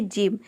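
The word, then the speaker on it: gym: करना है, जैसे कि जिम। यहाँ पे देखिए जी का ज हो जाएगा, वाई का हो जाएगा ई, एम का हो जाएगा म, पूरा हो जाएगा जिम।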